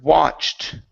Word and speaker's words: watched: Next is the word watched. Okay, right here, ed ending instead of watched. Okay, give me a T sound at the end.